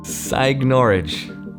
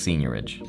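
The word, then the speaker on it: seigniorage: nothing to do with the word that i can't pronounce psych norwich no it's pronounced senorage nope just kidding it's pronounced senior ridge and it literally means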